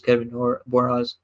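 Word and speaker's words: Borjas: name is what's it Kevin boras right what was his name yeah Kevin boras I was like they might miss pronouncing his name but it is Kevin boras yeah I think I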